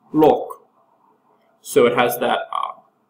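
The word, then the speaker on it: 六: other favorable meanings because both the number six and the word for wealth are pronounced Lo so it has that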